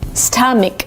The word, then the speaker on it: stomach: It's not an a. It's a short sound. Uh like cup and up and cut.